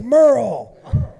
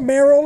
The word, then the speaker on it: Merle: baby, it's Merle. It's Merle and Durrell. Get it straight. Daryl. It's not Merrill and Daryl.